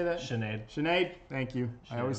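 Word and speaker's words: Sinéad: Ian Cheney dokkan how you say that Sinead Sinead thank you I always say it wrong sparks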